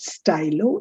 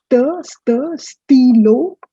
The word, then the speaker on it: stylo: It's not stylo it's stilo.